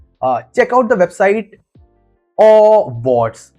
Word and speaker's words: Awwwards: Uh check out the website Awwwards. Yeah, that is how they pronounce it. So, there's a legit website known as Awwwards, Awwwards, they call it.